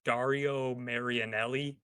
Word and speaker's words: Dario Marianelli: I can never remember how to pronounce the guy's name. It's Dario Marianelli.